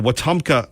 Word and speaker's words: Wetumpka: I can remember under Obama where the Wetumpka, and it took me years to pronounce this correctly, the Wetumpka Tea Party, they were in fact targeted.